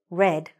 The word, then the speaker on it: read: So you pronounce this like the color red, but you spell it exactly the same.